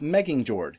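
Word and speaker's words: Megingjörð: isn't able to pronounce, but I believe is pronounced Meggingjord, and it's a belt that gives Thor extra strength.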